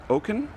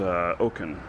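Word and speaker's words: Owken: So I got this great question, and it's kind of long, but it's from Oken, I believe is how his name is pronounced, Oken, O-W-K-E-N.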